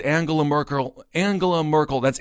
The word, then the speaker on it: Angela: Merkel Angela Merkel that's it's Angela by the way it is it's a heart which it's German come on you're one of them I know doesn't mean we can have a soft G here every now and again Angela Merkel he said